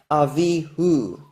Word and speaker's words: Avihu: In Avihu, everyone who knows Hebrew knows that this vowel right here is pronounced as U. It's got a dot inside it, showing it's a vowel letter U. It's not a consonantal vowel. And even if you take away all the vowel points, all Jews who know Hebrew can tell you in Avihu, that's an U because it comes from the word Hu, which has an U in it.